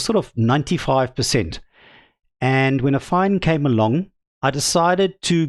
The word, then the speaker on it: AFFiNE: And a fine, by the way, is how it is pronounced. I've looked, they've got a phonetic spelling on their project page. So, a fine, that is how you pronounce this.